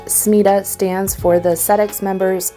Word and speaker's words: SMETA: SMETA, which I believe is typically pronounced SMETA, stands for the SEDEX Members Ethical Trade Audit.